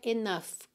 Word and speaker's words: enough: Então enough é n o u g h, mas o som é enough, com som de f mesmo no final, tá?